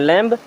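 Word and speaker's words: lamb: ठीक है इसी प्रकार अगर एम के बाद में कभी भी बी आता है तो हमेशा यानी कि 99 पर केसेस में बी को नहीं पढ़ा जाता यानी कि बी साइलेंट होता है जैसे यहां देखें एल ए एम बी इसे आप क्या पढ़ते हैं लैम नहीं यहां पर भी बी साइलेंट है यानी कि इसको हमें नहीं पढ़ना है तो इसे हम पढ़ेंगे क्या सिंपल सा लैम क्या पढ़ेंगे लैम क्योंकि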